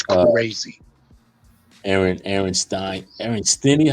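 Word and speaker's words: Stinnie: Aaron Aaron Stein Aaron stinny how you how you say it Aaron stinny stinny yeah stinny you got it bro bro stinny Aaron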